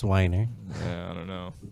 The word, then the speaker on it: Weiner: proof he's sending pics i'm sure you're pronouncing it wrong i'm sure it's whiner yeah i don't know the pressure's wiener dude if i was